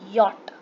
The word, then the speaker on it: Jot: You have to understand that it is not jot, it is yacht. We will pronounce it yacht, but we write it jot only.